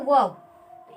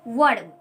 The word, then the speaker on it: verb: इसको आप ये मत बोल सकते हो वर्ड, ये दैट इज रॉन्ग प्रोनाउंसिएशन, ये रॉन्ग प्रोनाउंसिएशन है, लेकिन इसका सही प्रोनाउंसिएशन क्या होगा, वर्ब।